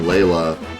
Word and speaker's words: Layla: I've been pronouncing Layla like the normal name L-A-Y or L-A-L-Y-A.